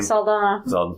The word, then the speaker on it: Saldana: We also got Zoe how do you pronounce her last name? Saldana.